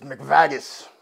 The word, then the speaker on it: McVaggis: adventures please welcome mcvagis it's mcvagis please pronounce my name right i apologize mr mcvagus